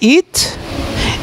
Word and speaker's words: eat: final de una palabra, no se esfuercen tanto en decir it. Simplemente pronúnciela y deja la lengua arriba de su boca y hace un sonidito como de S.